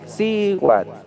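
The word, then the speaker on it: siuatl: Hombre, tlacat, mujer, sihuat, sihuat, así como suena S.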